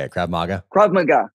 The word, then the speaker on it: Krav Maga: Krav Maga. Krav Maga. Krav Maga. Krav Maga. Right emphasis on the wrong syllable.